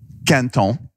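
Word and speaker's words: Quinton: First, it's called Canton. Canton. That's the French Canton. Pronunciation.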